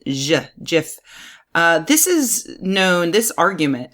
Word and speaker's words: GIF: record as saying that jiff is pronounced with a soft G jiff this is known this